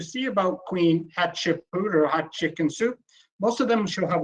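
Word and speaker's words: Hatshepsut: if you're listening here he told me how to say it and it's Queen hot chicken soup that's the easiest way say it as hot chicken - and she reigned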